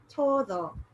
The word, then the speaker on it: todo: r so for example i wanted to say todo t-o-d-o if i said todo it could sound like toro which means wool because the tongue would be in the same position just that's a lighter it's a lighter movement okay all right so